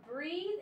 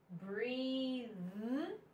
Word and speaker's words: breathe: one is strong BR it's a soft th breathe is a stronger th so breath breathe okay here we have the